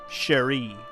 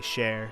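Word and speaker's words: Chere: together celes is sellis cheri or cher i would probably just say share sell a share the e is silent wait oh tara's still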